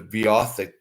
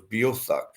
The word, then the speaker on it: Beothuk: You might know it as Beothic, but I had a linguistics professor tell me it was Beothuk.